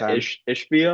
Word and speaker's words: Ishbia: Yeah, but they did say that Ishbia, I believe is how you pronounce his last name.